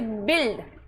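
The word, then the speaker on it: build: जब किसी शब्द में यू एल से एल डी या एल टी जुड़ा हो तो यू आई का उच्चारण ई करेंगे। किसी शब्द में यू एल से एल डी या एल डी जुड़ा हो तो यू आई का उच्चारण ई करेंगे। जैसे बिल्ड। अब बिल्ड इसका उच्चारण क्यों कर रहे हैं? ई क्यों पढ़ रहे हैं?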